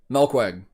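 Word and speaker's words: Melkweg: over 10 years ago milkweg if that's how you pronounce it that's it melqweg that's the venue i've been to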